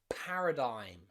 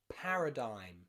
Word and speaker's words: paradigm: more advanced words like paradigm paradigm a new paradigma diaphragm okay so g and m together often means the g is silent okay so let's look